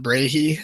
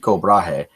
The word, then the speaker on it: Brahe: This week we have Brahe, and I'm going to really struggle to make sure that I pronounce his name Brahe and not Brahe, as I was in the habit of for for like half a year, until I think I